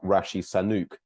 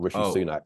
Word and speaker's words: Sunak: But just to clarify, Joel, I think you must have got his name wrong, because President Biden said that he's called Rishi Sunak, not Rishi Sunak.